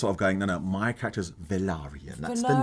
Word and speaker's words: Velaryon: It still bothers me when people sort of go, so you're Corlys really Valyrian. I said, no, it's my name. Velaryon. Yeah. Velaryon.